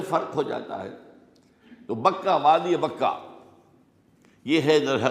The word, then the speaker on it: بکہ: جو بکہ میں ہے۔ بکہ اور مکہ یہ ایک ہی لفظ ہے۔ تورات میں بکہ کا لفظ آیا ہے، قرآن مجید میں مکہ۔ یہ تھوڑا فرق جو ہے یہ تلفظ کا ہو جایا کرتا ہے مختلف زبانوں کے اندر۔ جیسا کہ آپ کو